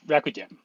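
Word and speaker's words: Racdym: Rakdim? It's Rakudim.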